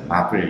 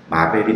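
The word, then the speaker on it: Marvel: 근데 이게 다 하나로 각각의 영화인데 다 하나로 묶여있는, 그래서 그거를 소위 말해서 마블 영화라고 얘기하는데 웃긴 건 발음은 마벨이 맞는데 의도적으로 이것을 마블이라고 부릅니다.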